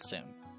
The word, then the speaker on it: そ: Pronounce it as so, like in the word soda. そ Let's practice writing it.